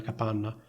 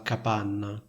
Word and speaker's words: capanna: Quindi sentite la differenza tra la N di capanna e la N di campana. Capanna, campana. Capanna, campana. La doppia N fondamentalmente è più forte, più evidente, più lunga della N singola.